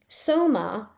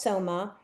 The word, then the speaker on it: Soma: Soma S O M A is the enthnogenic elixir used by Indian Buddhism as recorded in the Rig Va Amrida.